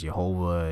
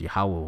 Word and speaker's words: Yahweh: All right, such as Jehovah and Yahweh and all of that. That's not the right pronunciation. All right, it's Yahweh, which means he is, he exists.